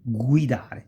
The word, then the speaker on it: guidare: Again, guidare, to drive. Si pronuncia come to go, go, ok?